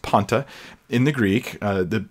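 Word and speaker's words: πάντα: that's that word Ponte and that's how it's pronounced Ponte in the Greek the P alpha a new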